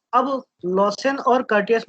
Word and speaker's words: Curtius: क्या प्रोनाउंसिएशन है सर इसका? कॉर्टियस, द कर्टियस। कर्टियस, जी, the Curtius rearrangement or a Curtius reaction or a Curtius